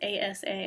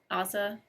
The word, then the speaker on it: Asa: to say his name it's ASA I've been saying Aza in my brain um